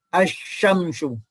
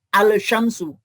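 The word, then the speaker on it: الشمس: atau hukum Al contohnya Ini kan dibaca asyamsu ya bukan alsamsu atau dibaca wasyamsu bukan Wal Syamsu Kenapa karena huruf syin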